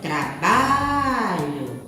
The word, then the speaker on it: trabalho: gente pronuncia essa forma trabalho então qual foi a sílaba que a tia puxou que a tia falou se eu for mais intensidade foi a sílaba ba olha trabalho então a sílaba que